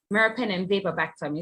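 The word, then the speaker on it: meropenem-vaborbactam: Memvaborectam, right? How do you pronounce that? Meropenem vapobactam is how we pronounce it.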